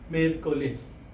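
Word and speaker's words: miércoles: Wednesday को हम लोग बोलते हैं मियरकुलेस. इसकी प्रोनाउंसिएशन जो होती है मी एर को लेस, मियरकुलेस.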